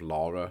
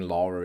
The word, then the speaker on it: Laura: It might be that I slip into the German pronunciation of Lara, which is Lara because um whenever Yeah, I mean in Austria if someone is called Laura, you say Lara.